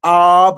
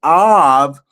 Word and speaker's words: Av: Another way you could pronounce the Beit is Vet, of Vav. And so is Ab, or is Av. And guess what Av means in Hebrew, Brother Carl? Av is the word for father in Hebrew.